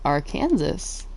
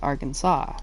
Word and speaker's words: Arkansas: Arkansas is spelled like a r and then Kansas. But it's not our Kansas. It's Arkansas. And Kansas isn't Kansas.